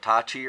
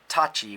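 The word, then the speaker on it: 立ち: Now you notice if you just say stance, it's Tachi with a T. But if you say, for example, Kiba Dachi, then it becomes Dachi with a D.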